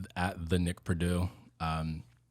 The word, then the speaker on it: Perdue: But it's at the Nick Perdue. It's spelled Perdue, not like the college. So I was thinking the college. most people do. Yeah. Most people do, but it is French. Most people Purdue.